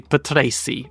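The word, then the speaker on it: Patrese: Pell Johnny Parsons Ricardo Petra a lot of people say Petra including myself normally but I think it say pety is more like what it actually is alpas Roger Pensky um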